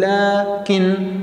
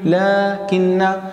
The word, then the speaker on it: لكن: وأيضا عندنا حرفي لكن ولكن. لكن هو حرف عطف يفيد الاستدراك، ولكن حرف طبعا مشبه بالفعل، وهذان الحرفان يجب أن نحذف الألف بعد اللام. نحن نقول لكن، لكن، فيجب أن ننتبه إلى رسم هذه الكلمات بشكل صحيح.